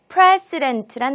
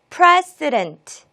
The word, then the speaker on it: precedent: 자, 우리 오늘 함께할 첫 번째 단어 precedent란 단어입니다. 먼저 발음 연습 같이 시작해 볼게요. precedent, precedent, precedent. 첫 음절에 강세를 두시고 강세를 받은 모음만 에라고 발음하고 나머지 모음들은 다 약하게 발음해 주시면 되겠습니다. precedent.